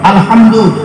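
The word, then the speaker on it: الحمد: আল্লাহ তোমার হাই হতি গলার ভেতর থেকে হেটা উচ্চারণ হবে আলহামদু বান্দা যখন নামাজে দাঁড়ায় কি বলে আলহামদুলিল্লাহি রাব্বিল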